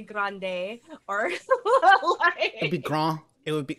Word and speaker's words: grand: You could probably be French about it and just say grande, or it'd be grand. It would be, they don't pronounce the D, it'd be grand.